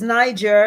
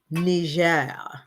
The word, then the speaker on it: Niger: I always thought it was Niger. It's not. The proper pronunciation is Niger. It's French.